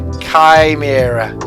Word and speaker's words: chimera: chimera came era chi mira yeah i've had people pronounce it chimera or chimera pronouncing the ch but it's like chi ah i'm pretty